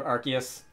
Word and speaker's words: Arceus: Riu and just just the same way that I call it arus uh instead of archus which appears to be the more Canon pronunciation I don't care I'm